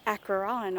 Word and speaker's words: Acheron: driving up I saw a sign that said Akron or I think I'm pronouncing it right it's about a CH ER